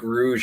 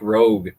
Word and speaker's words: Rouge: was arguing with that it's Strike Rouge, and they're just like, it's Strike Rogue. I think that was me. It's ROUGE. It's spelled the same way. Let's be honest here. No, Rogue is ROGUE.